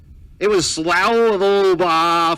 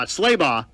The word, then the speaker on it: Slaybaugh: And I learned how to say their name like 3 years ago. It was Slaybaugh for a number of years. I got it right now. It's Slaybaugh.